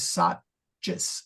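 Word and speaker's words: saccus: And I suspect that if I'm not being careful, I will say sachis, but it should be the first C is pronounced. Yeah, all letters are pronounced in Latin.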